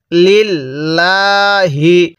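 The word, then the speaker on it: لله: এরপরে লাম লাম জের লিল, লাম খারা জবর লা, হাজের হি, লিল লাহি। কিভাবে পড়ব? লিল্লাহি। তাহলে আল হামদু লিল্লাহি, এরকমভাবে শিখব।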